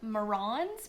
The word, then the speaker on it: Marans: Now, black copper marrons, they are from France, and the correct pronunciation is marrons because they are from Marans, France.